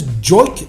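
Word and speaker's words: Joique: Your boy, how do you pronounce this? Joik Bell? Joik?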